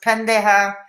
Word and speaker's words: pendejo: yeah exactly yeah oh my goodness yeah it's pronounced pendejo i pronounced it correctly diana thank you and